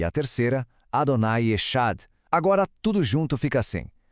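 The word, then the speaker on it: אדוני אחד: E a terceira, Adonai Echad.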